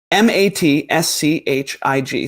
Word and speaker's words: matschig: squishy on Google, and it's giving me Matzkig, which I don't speak German, and I never took it in college, like for a pronunciation thing. But it's Matschig. So Matschig or Matzkig.